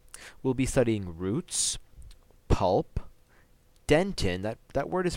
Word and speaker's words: dentin: all of it will be studying roots pulp dent in that that word is pronounced dentin enamel and crown okay so I